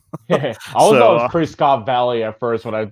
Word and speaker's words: Prescott: Arizona I made sure I said that right pres Scott Valley at first when I yep I found out that's you don't pronounce it that way you will piss off